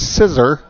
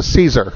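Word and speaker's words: Siser: We would say that's scissor, but they're an Italian company, and it's pronounced Caesar.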